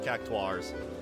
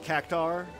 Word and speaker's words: Cactuar: Alright, the cactuars. Yeah, cactuar is apparently how it's pronounced. Not cactar, but whatever.